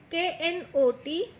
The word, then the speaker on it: knot: K-N-O-T. Knot. Now here you have to remember children, K is silent, so don't pronounce it like knot.